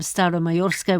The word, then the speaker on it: Staromayorsk: the village of um style of mayorska which I hope I'm pronouncing correctly and why that's significant you are pronouncing it correctly and uh I will